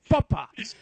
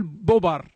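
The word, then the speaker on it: Popper: أنا أنطق الاسم بالألماني، هو اسمه كارل زيغموند بوبا مثل هتلر. هذه لا تقول بوبر أو حتى يعني تعاتبني أن نطقي هو فرنسي.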